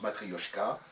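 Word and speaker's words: матрёшка: où c'est marqué Matryoshka, ça se prononce Matryoshka, en russe.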